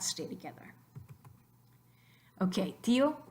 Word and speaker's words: tío: So try to say tío in one syllable. Just try it. Tío, tío, tío. Sounds stupid because we don't want tío, we want tío. So in writing, we accent the I.